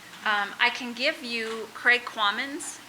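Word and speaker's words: Kvammen: The V is silent, Quammen.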